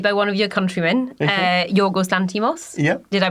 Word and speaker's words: Yorgos Lanthimos: But I did go watch a great movie made by one of your countrymen, Yorgos Lanthimos. Yep. Did I pronounce that horribly?